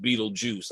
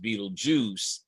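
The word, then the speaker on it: Betelgeuse: It looks like Beetlegeist, but it is pronounced Beetlejuice. I'm told by Well, YouTube tells us as YouTube tells us that it is still pronounced Beetlejuice.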